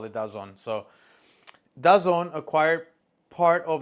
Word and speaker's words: DAZN: one in particular named DAZN. I know that's not how you say it. That's just the way Spanish people say it on YouTube. So that's just how I'm going to say it. DAZN.